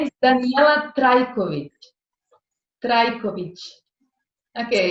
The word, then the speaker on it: Danijela Trajkovic: My name is Danijela Trajkovic. Trajkovic. Okay, it's difficult for you to pronounce. Danijela Trajkovic.